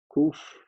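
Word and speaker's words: qof: this and it's the you transcribe it as a q but you pronounce it as a k the k sound the value is 100.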